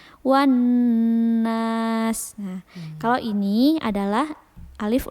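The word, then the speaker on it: والناس: dibaca seperti minal jinnati wan nas wal nas. Nah, kenapa tidak dibaca wal nas? Karena di situ ada syiddah. Jadi alif lamnya tidak dibaca, langsung dimasukkan ke huruf nun yang di depannya. Wan nas.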